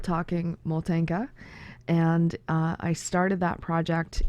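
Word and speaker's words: Motanka: And also, just to be clear, the word Moltenka, the syllable is stressed on the first Moltenka, because it comes from the Ukrainian word motate, which means to wrap or wind or bind, which is how the doll is made.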